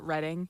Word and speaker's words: Reading: Um the in Reading Reading, Ohio, is that how you say it? Reading.